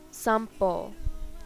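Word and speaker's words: 散歩: Followed by M, P, and B sounds, N is pronounced as M, sampo, stroll.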